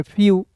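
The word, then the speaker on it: few: आधा फ और ई डब्ल्यू है तो इसका उच्चारण यू के रूप में फ्यू।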